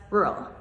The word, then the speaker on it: rural: rural rural So, the mistake with this one is that there's two r's. So, a lot of people have a really hard time pronouncing the double r sound. rural, rural However, when we say this quickly, it just comes out as rural, super fast.